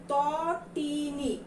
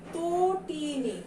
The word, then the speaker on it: তটিনী: এটা যদি বানান যেভাবে দেয়া আছে সেভাবেই যদি উচ্চারণ করি তাহলে হচ্ছে তটিনী, কিন্তু আসলে কি আমরা তটিনী বলি? আমরা কিন্তু এটা উচ্চারণ করি তটিনী। তাহলে তয়ের সাথে কি একটা যোগ হবে বলো তো? তয়ের সঙ্গে একটা ওকার আমাদের যোগ হয়ে যাবে, এই ঋষিকার